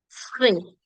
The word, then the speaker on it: frais: So when your D, P, T, S, and even X are at the end of the word, don't pronounce it. It's silent. So grand, chaud, fro, petit, frais.